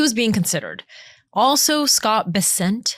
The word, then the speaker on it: Bessent: Also Scott Bessent, how do you say this? Bessent. Bessent uh as well.